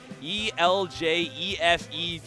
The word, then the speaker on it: El Jefe Vive: each other all right I'm gonna need help pronouncing this tag we got e-l-j-e-f-e-v-i-v-e oh El Jefe Vive okay that sounds right